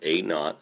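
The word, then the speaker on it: a₀: a KN so that a z is pronounced a not and that just is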